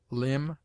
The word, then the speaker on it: limb: obtains in other languages it is mute in debt debter subtle doubt lamb limb Dum thumb climb comb womb it is used before